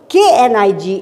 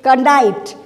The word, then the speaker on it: knight: a knight ht now i am not saying kanite like over here we say okay n i g h t like that now over here we don't say canite we say night like in don quixote